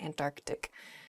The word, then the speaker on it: Antarctic: south is the Antarctic there's sort of like almost a hiccup in the word there Antarctic Oh in a sentence